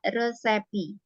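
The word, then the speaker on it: recipe: atau Res Apa resep resep masakan itu cara bacanya adalah resepi sebentar ini Jadi Iya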